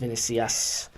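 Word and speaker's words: Vinícius: name wrong Vinicius Junior it looks like the Nikias its mini see us the the sea is a little more silent than we anticipated but he's a [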